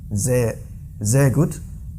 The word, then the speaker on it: sehr gut: And then sehr gut. Sehr gut. Sehr gut, yeah. not sehr gut. Yeah, very good. Sehr gut. Because that's the rule in German pronunciation, so it must be like this, the buzzing.